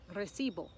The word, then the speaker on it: recibo: receipt the word is recibol we put it on the penultimate or the second to last and we say that's